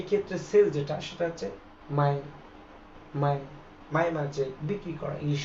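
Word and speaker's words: 买: ওয়ার্ডের উচ্চারণ কিন্তু একই এটা হচ্ছে থার্ড টনের ব্যবহার উচ্চারণ হবে এরকম মাই মাই মাই মানে হচ্ছে কেনা ইংলিশ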